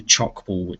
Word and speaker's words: tchoukball: And it's probably easiest just to Google chalk ball. It's spelled TCHOUKBALL. Kirkwood Intermediate have chalk ball nets, real chalk ball